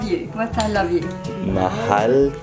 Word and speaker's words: mahal: Mahal kita. Mahali. Mahal. Mahal. Mahai. Yep. So M-A-H-A-L. Mahal. Mahai. Hal. Hey. Hal. It's like you're saying Hallie without the E.